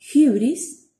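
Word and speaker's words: ὕβρις: Suena como una U francesa, vamos a tratar de pronunciarla, Y. Y tenemos como ejemplos la palabra hybris, que significa algo así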